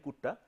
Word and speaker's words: Kutta: two people, Runge and Kutta. So, the whole logic is called the Runge-Kutta method. Germans, therefore, U would be pronounced as U. So, it is not Kutta, this Runge and Kutta.